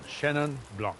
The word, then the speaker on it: Chenin Blanc: Chenin Blanc. You could be more French, but that would be too accented, perhaps. Oui, oui. We could be Chenin Blanc.